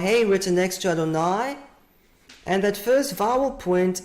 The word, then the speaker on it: Adonai: is a clear situation the name is usually pronounced as Adonai not the way it's written that's called kativ perpetuum it's always read as Adonai and then is it